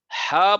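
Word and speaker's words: ح: হা পড়ার সময় বাতাস বের হবে।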